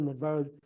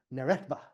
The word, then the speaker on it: Neretva: So that's the Nedvera. Let me get the pronunciation right. Neretva, not Neretva Vallis.